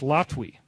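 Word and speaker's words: Latwii: this evening I am latwee l-a-t-u-e is pronounced Lottery now interestingly enough Carla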